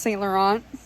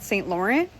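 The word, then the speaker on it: Saint Laurent: Um, I know it's pronounced St. Laurent. I just apparently didn't know that when I was recording and continue calling it St. Laurent.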